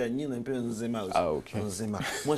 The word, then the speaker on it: Nzema: Je prononce bien Nzema. Nzema. Nzema. Oui, Nzema.